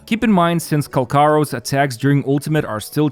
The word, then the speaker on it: Calcharo: Apparently his name is actually pronounced Calcharo.